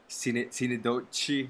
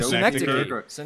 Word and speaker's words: Synecdoche: that movie that I don't know how to pronounce, that Cinedochi, New York, or Cinedochi. Oh, Synecdoche.